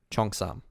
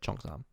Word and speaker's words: Cheongsam: Cheongsam pronunciation. Cheongsam. Okay, Cheongsam. That's how you say it, Cheongsam.